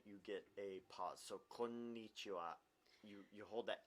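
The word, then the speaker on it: こんにちは: It's like when people say konnichiwa, that's wrong. It's konnichiwa. But for me though, it is pronounced in my mouth.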